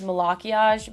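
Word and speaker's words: Malachiasz: running into somebody named the correct pronunciation of his name is malach iaj but I really don't like that I think it's really ugly so I call him Malachy as but I know a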